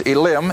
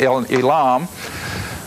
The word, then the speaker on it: Elim: with israel at well in the english it's elim e-l-i-m up there in verse 27 of 15 and the hebrew i guess is pronounced elam but whatever they now